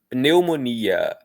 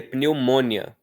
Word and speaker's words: pneumonia: Pense, pense que a gente não pronuncia pneumônia. Pneumônia igual no inglês, tá? No inglês seria algo assim. Eh, se eu não me engano, pneumonia em inglês é pneumonia. Môia para eles tem força no mon.